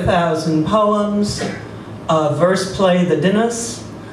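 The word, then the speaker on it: The Dynasts: poems uh verse play the dinners he pronounced it that way by the way and many letters he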